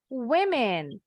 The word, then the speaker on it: women: Nah, kalau yang ini bacanya women. Kalau cuma satu perempuannya, bacanya woman. Tapi kalau jamak lebih dari satu, plural form of the word woman is bacanya women. Woman, women.